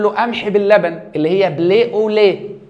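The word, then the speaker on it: blé au lait: دي ايه فيقول له قمح باللبن اللي هي بلي اوليه بتتنطق كده بليه اوليه يعني قمح باللبن فاحنا قعدنا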